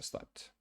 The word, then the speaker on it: slept: to make sure you have to pronounce the T there, right? Because if not, it's slap. It just doesn't mean anything. So slept.